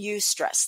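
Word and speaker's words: eustress: it there but there's two types distress and UST stress that's spelled EU in the word stress UST stress is phenomenal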